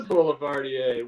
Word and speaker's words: Boulevardier: Is it a Boulevardier, or how do you pronounce that? It is a Boulevardier. Well done.